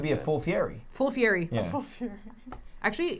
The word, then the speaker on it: Fieri: theory full fury actually guy fury pronounces his name differently but if i try it might be it might be more defensive yeah exactly yeah right it's more like authentically pronounced like fiery yeah yeah yeah yeah